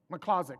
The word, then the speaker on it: Miklozek: Miklozek, oh yeah, just like it sounds. Just like it's spelled.